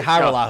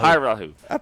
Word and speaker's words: Hajrullahu: I say Hajrullahu. Hajrullahu. That J is silent.